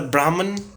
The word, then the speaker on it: Brahma: to be spoken about it is not Brahman it's Brahma so can you read